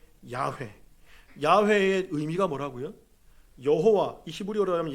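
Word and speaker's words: יהוה: 누구를 부르지 않는다 여호와 여호와를 히브리 원어로 얘기하면 발음이 어떻게 된다고요 야회 야외의 의미가 뭐라고요 여호와이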